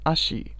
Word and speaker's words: Ashi: ASA in this instance is pronounced as Ashi.